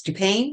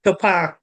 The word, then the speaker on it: Dupin: And I keep mispronouncing his name, but it's Dupin, Dupin, Dupin. You think Topin.